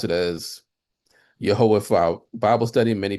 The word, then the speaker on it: Yehovah: We pronounce it as Yehovah for our Bible study.